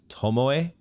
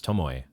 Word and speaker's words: Tomoe: Okay, I think it's pronounced Tomoe. There is like a third syllable there.